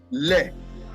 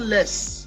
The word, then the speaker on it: les: the definite article is leg l it is not less it is you don't pronounce the s wow so like why